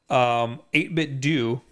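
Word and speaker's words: 8BitDo: kind of ties in with your video yeah 8-bit du which is how you pronounce it okay because everybody yeah they would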